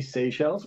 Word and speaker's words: Seychelles: Oh, I'm Shellis, not Shellis. Seychelles.